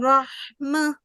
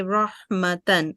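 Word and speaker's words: رحمة: Okay, so if we have to stop over a circular ta, then we can make it pronounce it as like mah, the ha sakin. And if you want to continue, you can say rahmatan.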